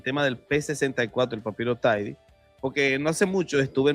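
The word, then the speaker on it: Thiede: Si alguien pronuncia Tidy es que no sabe lo que está pronunciando, claro, porque es que no es un nombre inglés y entonces la gente tiende a pronunciar los nombres como si fueran ingleses y, por ejemplo, dicen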